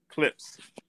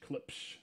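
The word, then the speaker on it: Klipsch: How do you pronounce that again? Clipsage? Clips. Clips. What do you ask me? K-L-I-P-S-H. Clips.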